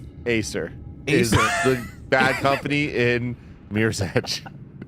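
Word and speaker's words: Æsir: Next up, Acer. That is spelled A E S I R. Aer.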